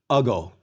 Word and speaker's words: ago: Ago. We stress the first syllable.